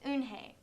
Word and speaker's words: Unhei: joey she nodded silly yes it's pronounced unhei and it means grace mr kim added unhei